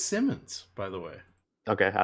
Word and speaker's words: Simons: It's spelled Simons, but I Yeah, believe Eddie was telling me he said it's Simmons.